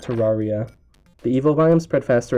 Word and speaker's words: Terraria: It's pronounced Terraria, not Terraria.